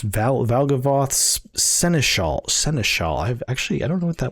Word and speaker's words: seneschal: All right, how is that pronounced? Seneschal. Oh, I pronounced it pretty close. Seneschal.